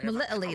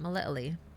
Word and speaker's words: Melitele: Oh, sweet mother Melitele, why I Melitele, that's how you say it, Melitele.